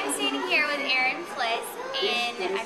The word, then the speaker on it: Flis: All right, I am standing here with Erin Flis, and I pronounced it right.